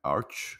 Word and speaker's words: Arch: me corrigiu aqui a a pronúncia não é Arc é Arch né acho que é